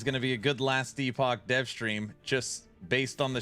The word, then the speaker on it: Last Epoch: It's called somebody I called it last epic. People are saying it's actually pronounced last epoch, and it's it's some kind of uh Diablo POE clone.